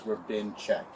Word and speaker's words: Rabinchek: The H is like silent. So say it. It's Rabinchek. Rabinchek.